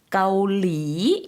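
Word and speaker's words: เกาหลี: เ ก า ห ล ี 앞에는 평성이고요. 뒤에 사성으로 내렸다가 올려주시면 돼요. 한국 분들이 많이 발음하실 때 까올리 이렇게 많이 발음하시는 경우가 많은데요. 앞에 평성 좀 신경 써서 해주시고요. 까올리 이렇게 발음해 주시면 되겠습니다.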